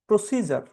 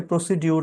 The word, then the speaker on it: procedure: শেষে আরটা ওরা মানে উচ্চারণে আসে না। ব্রিটিশরা আরটা এমনি বলে না। যদি শেষে থাকে। এরপরে আমেরিকান প্রোনাউন্সিয়েশন তারা বলে প্রসিজার।